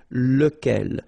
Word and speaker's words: lequel: Okay, so remember, you've got to pronounce it lequel, even if you've got this QU. Okay, remember that this U phonetically doesn't exist, so lequel.